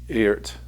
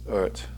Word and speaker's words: EART: while to dive into the earth earth sorry it's pronounced ert guitars and the first